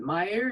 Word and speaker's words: Maier: Maier, is that how you pronounce his name? Yeah, that's how you pronounce his name, and I should say it's a very German name.